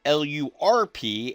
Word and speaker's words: LRRP: So, a LRRP unit, Lima Romeo Romeo Papa, pronounced LRRP, LURP, is a long-range reconnaissance patrol.